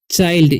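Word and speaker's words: child: 'चाइल्ड' शब्द का उच्चारण 'चिल्ड' की तरह न करें। सही? कई छात्र इसे 'चिल्ड' पढ़ते हैं और गलत तरीके से पढ़ते हैं। इसे 'बच्चा' पढ़ा जाना चाहिए।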